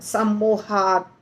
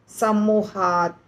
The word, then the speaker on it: सम्मोहात: सम्मोहात त आधा है, ध्यान देना है, आधा त में हमेशा हमें ऐसे रुक करके नहीं करना उच्चारण। सम्मोहात, सम्मोहात, त सुनाई नहीं दे रहा है, अगर पूरा त सुनाई देगा तो त पूरा हो जाएगा।